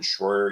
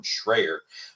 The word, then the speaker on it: Schroyer: He did mention Owen Schroyer, even if he mispronounced his last name and called him Owen Schrayer.